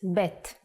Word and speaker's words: bet: The sound of vet is V, but we don't count vet as a separate letter in the alphabet. So far, you've studied 2 letters of the Hebrew Aleph Bet, and you've learned 3 sounds.